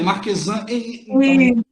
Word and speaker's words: Marquesan: Deve ser a Marquesan, não é? É assim que pronuncia, Marquesan.